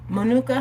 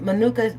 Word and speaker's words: Manuka: And so one thing I learned about date syrup and honey, Manuka honey, I believe it's pronounced.